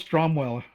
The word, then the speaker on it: Stromwell: that for for one of the villains Arnold strong Arnold stromwell was his name and uh he's a rival